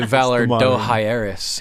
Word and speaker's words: Valar Dohaeris: did. I say Valar hairspray. I've heard people say Valar Dohaeris as well. They're wrong.